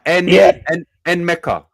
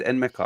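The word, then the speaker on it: Nmecha: N Mecca. That's how you pronounce it. So it is N Mecca.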